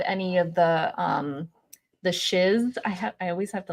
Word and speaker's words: Shiz: still didn't have any of the um the shiz I I always have to like really pronounce that word the shiz h s h